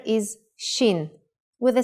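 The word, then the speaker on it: שין: it looks different though Shin Shin is pronounced sh when the dot is on the upper right side if the dot in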